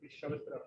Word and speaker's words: Shavatra: Shavatra. It's like Pavitra, just add Shav.